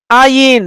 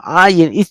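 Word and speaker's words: עין: Ayin. It sounds like a G, like a G. It is between G and no G, between G and nothing, no sound.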